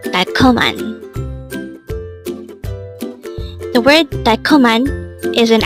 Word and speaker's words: 달콤한: 달콤한. This pronounces a three-syllable word. The first syllable is dal, second syllable is kom, and third syllable is han. Pronounce it with me. 달콤한. 달콤한.